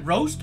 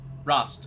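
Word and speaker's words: Rost: herself into down here is it roast or rust rust okay i was saying it wrong you won't hear me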